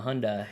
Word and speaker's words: Hyundai: shitty Hyundai and uh Hyundai like a Hyundai or Honda Hyundai okay yeah I think that's how you pronounce it yeah Sunday lunch yeah yeah yeah that's